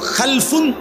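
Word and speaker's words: خَلْفٌ: হয় আরবিতে একটা হল খালফুন আরেকটা হল খালাফুন একই শব্দ শুধু উচ্চারণের মধ্যে একটু ভিন্নতা মাঝখানে একটা লাম আছে। এই লামটার মধ্যে যদি সাকিন হয় তাইলে হল খালফুন।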